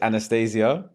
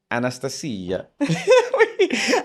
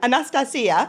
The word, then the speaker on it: Anastasia: long time you've introduced yourself to me as Anastasia but I've now just found out the cor correct pronunciation is Anastasia Anastasia wellan you're Greek right I'm Greek cypria yeah